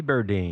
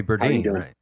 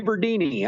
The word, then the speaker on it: Berdine: and I didn't yeah everybody is Siri even pronounced it wrong hey Siri who are the members of kicking Valentina burdini oh great Hey listen I've got my last